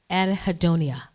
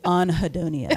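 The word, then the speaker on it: anhedonia: What is anhidonia? Did I say it right? Yes, you did. Thank God. Some people like to be fancy, but they say anhidonia, right? But I'm from Jersey, so I say anhidonia, you know.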